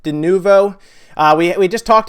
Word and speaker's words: Denuvo: we we've talked about denovo I'm sorry I have a hard time pronouncing that denuvo uh we we just